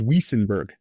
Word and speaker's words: Wuestenberg: And the last name is spelled wes t-b. All right. Awesome. Is Whisenberg. Yes, it's Whisenberg.